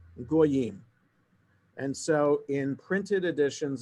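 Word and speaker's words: גיים: text 1,300 years ago, the accepted tradition was that that word Gimel Yud Yud Mem should be pronounced Goyim.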